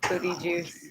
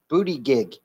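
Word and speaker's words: Buttigieg: partner had a kid Booty Juice you said his name wrong it's booty gig oh he's getting a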